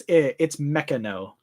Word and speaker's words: Meccano: Saved on the pronunciation. It's Meccano.